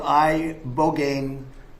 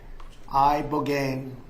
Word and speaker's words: ibogaine: In 2024, study from Stanford University, 30 special operation veterans with traumatic brain injuries underwent it's called ibogaine treatment. Ibogaine. Remember the name. Is that pronounced relatively properly, would you say?